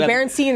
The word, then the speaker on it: Berenstain: The Berenstain or the Burstein or whatever. It's Berenstain. Yeah. And see, it's spelled Stain, but everyone always thinks it's usually Berenstain.